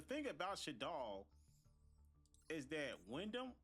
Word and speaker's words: Winda: Now, the thing about Shaddoll is that Wyndham, that's how I say her name, right? What's her name? Like Winda.